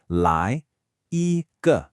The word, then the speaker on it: 来一个: So the two classic mistakes here are one, pronouncing lie with a flat tone instead of making it rise. It should almost sound like you're asking a question. Lie. The second error is giving ge a full tone, saying ge. No. It is a neutral tone. That means it's short, it's unstressed, it's very light. It's not a full syllable, just a quick ge that's attached to the end.